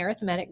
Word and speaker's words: arithmetic: And yes, I am saying arithmetic because that's how you pronounce it. It looks like arithmetic, but when we're talking about the sequence, we say arithmetic.